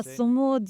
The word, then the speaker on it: Sumud: The word, am I pronouncing it correctly? Sumud is that. Ah, Sumud.